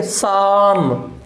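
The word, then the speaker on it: psalm: साम, P silent रहे, यहाँ PS इकट्ठा आता है तो पी हमेशा साइलेंट रहता है।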